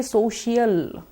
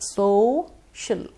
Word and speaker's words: social: profession profession social social now some people say social that's not corrected so shall social mango mango so remember